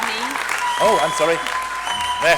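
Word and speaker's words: Niamh: My name's pronounced Neve. Oh, I'm sorry. May I say that one more time? Neem.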